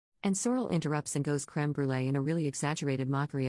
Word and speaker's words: crème brûlée: a comment about the crème brûlée they had, and I pronounce it in French. Because it's a French word. And I'm French. And Sorrel interrupts and goes crème brûlée in a really exaggerated